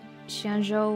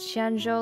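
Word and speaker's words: Xianzhou: she was singing how if you pronounce shenzhou with the wrong tones it it's uh it means like salted porridge and so if you slightly mispronounced shianjo luofu into shenzhou dolphu it's like salted poured with tofu which I think is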